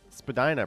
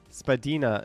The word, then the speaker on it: Spadina: Spadina, pronounced Spadina, not Spadina. No, that one has been debunked. Spadina is a perfectly acceptable pronunciation.